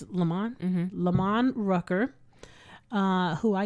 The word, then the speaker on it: Lamman: It's Lamman.